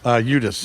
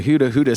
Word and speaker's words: Udhus: I was going to say Hudus, so I'm glad I asked. Udhus. Udhus. That's a weird Or one. the traditional pronunciation is Udhus. In Norway, yeah. Norway. It's actually with a T. Udhus.